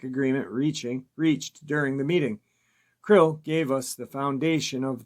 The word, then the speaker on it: KRLL: KRLL or KRLLL or CRLL or CRLLL, pronounced Krill or Krill, was the hostage left